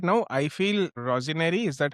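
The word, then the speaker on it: Rosenior: I feel Rosinary, is that how you say his name? Rosinary.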